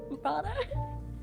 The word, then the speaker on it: bara: Bara.